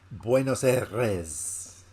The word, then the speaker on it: Buenos Aires: Is how you say it? Buenos Aires. Yeah. You got to roll the R. I shouldn't have even attempted to say that. Buenos Aires.